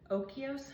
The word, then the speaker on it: Oikos: I'm using my, I think you pronounce it Oikos, honey, is that how you say it?